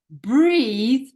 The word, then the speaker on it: breathe: get it mixed up so breathe rhymes with E and there's an e